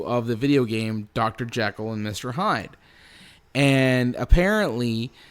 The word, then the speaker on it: Jekyll: Yes, because that's apparently how it was supposed to be pronounced. Oh, wait, what? Yeah, I'm not kidding. If you I always thought it was Jekyll. Well, everyone says that because that's how it looks, right?